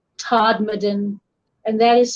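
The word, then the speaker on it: Todmorden: in england in a town in yorkshire called todmaden and that is spelled t-o-d-m-o-r-d-e-n and it was uh it was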